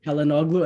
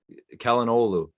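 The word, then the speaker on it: Çalhanoğlu: in your head, it's Kalinoglu, Olu, like it, because that G is silent because it has the little hat above it. So you just kind of carry the vowel before it.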